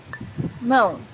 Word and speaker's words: mão: Mão. Hand. Mão's a little bit difficult to pronounce for beginners because of this nasal sound, um.